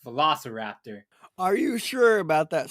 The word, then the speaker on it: velociraptor: over there those are the la sahara haptors villasa raja raptors i i like how the name changed just